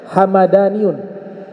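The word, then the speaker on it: همذاني: kalau tadi nama suku nah belakangan dibacanya hamadaniun hamadani mimnya fathah kalau yang suku tadi mimnya su sukun Hamdani kalau hamadani nama kota kalau Hamdani nama su suku disebutkan bahwa kota tersebut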